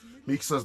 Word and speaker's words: Mixa: By the way, we got a confirmation from LevelUp's coach Puktop that the correct pronunciation for Mixa's name is with an S, not with a SH.